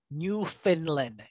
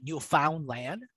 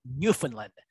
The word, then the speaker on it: Newfoundland: It's pronounced Newfoundland. It's not Newfoundland, although it looks like it's Newfoundland. All right, it's pronounced Newfoundland.